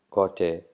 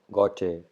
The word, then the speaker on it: Goethe: So, and this quote is from this person, and in German it is pronounced as Johann Wolfgang von Goethe.